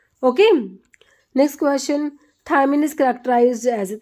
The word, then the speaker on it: thiamine: तो ये तो हमारा थायमिन, इसकी स्पेलिंग अलग है, दोनों को प्रोनाउंसिएट तो सेम करते हैं, थायमिन बोलते हैं, बट जो हमारा विटामिन है वो है थायामिन, ऐसे है।